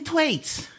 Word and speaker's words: Thwaites: Thwaites?